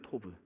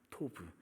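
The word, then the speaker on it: טוב: 생긴 거 저게이 글자인데 발음을 한번 토부예요 토브 토브 이게 좋은 아름다움 이런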